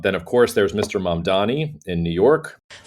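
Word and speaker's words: Mamdani: The name is Mom Donnie. M A N D A N I. You should learn how to say it.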